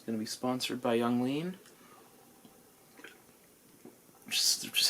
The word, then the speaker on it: Yung Lean: for Peoria it's going to be sponsored by Young lean just is how you pronounce this beverage from Pennsylvania little known fact